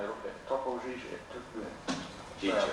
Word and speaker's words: Gigio: Gigio, it's Gigio. Uh, I'm afraid a lot of people in Britain call him Topo Gigio, uh, due to lots of people who were doing the promotions and mispronouncing the name, but it's, uh, you know, Mickey Mouse is Topo Mickey.